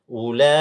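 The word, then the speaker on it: أولئك: Ula 5 harokat. Ya. Ulaika, jangan cuma 3 harokat. Ulaika, panjangkan sedikit dan sabar.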